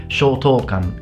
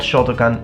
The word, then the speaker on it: Shotokan: practiced in the past Shotokan karate. And if you're Italian, all Italians mispronounce this karate style into Shotokan. It's not Shotokan, it's Shotokan. You have to put longer vowels in Japanese.